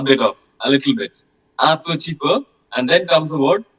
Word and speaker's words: un petit peu: Then there is an expression, un petit peu.